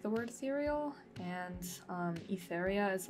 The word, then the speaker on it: Etheria: it, and I'm like, it's just Etheria. Etheria. It's like ethereal. That's it. That's the It's essentially ethereal plus, which is like kind of like a nickname for me that I kind